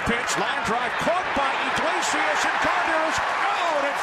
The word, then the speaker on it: Iglesias: Takes 4 syllables just to say his last name, Iglesias.